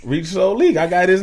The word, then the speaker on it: RichSo Leek: People don't put the soul. You probably say Rich Leek on there. You feel me? Oh, it's RichSo Leek. RichSo Leek.